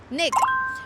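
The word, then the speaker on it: 那个: lot of that and how we pronounce that in Chinese is we say Nick which sometimes you know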